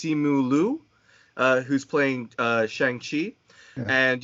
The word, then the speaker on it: Simu Liu: In watching the trailer, I had heard that I believe his name is pronounced Simu Liu, who's playing Shang-Chi.